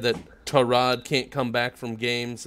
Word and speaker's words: Tyrod: That's how it's pronounced. Tyrod.